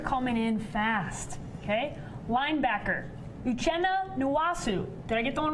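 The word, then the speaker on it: Uchenna Nwosu: Now, the Chargers, Uchenna Nwasu.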